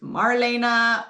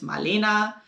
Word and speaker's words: Marlena: In German, it's pronounced slightly different. It's Marlena. So Marlena, Marlena, not that big a difference, right?